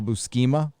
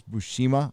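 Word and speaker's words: Buscema: awesome uh sal busi i always call him sal bu schema i think it's bushima i've never known how to pronounce his last name draws the best hulk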